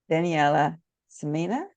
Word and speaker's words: Daniela Simina: am delighted to welcome Daniella Samina welcome Daniella I do hope I pronounce your name correctly yes you did pronounce my name correctly thank you so much